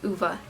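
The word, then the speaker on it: Ove: I finally learned how to pronounce it, Uva.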